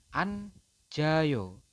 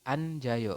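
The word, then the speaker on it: 앉아요: dia berada di tengah huruf awalan itu dibacanya J jadi anjayo membacanya seperti ini ini dibacanya adalah anjayo seperti itu kemudian untuk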